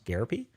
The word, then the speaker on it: Garappy: I remember because he told us how to pronounce it once. He said therapy. It's Garappy.